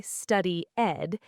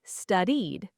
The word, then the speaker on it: studied: Notice the D sound at the end of studied. It's a soft sound. Don't say study-ed, say studied.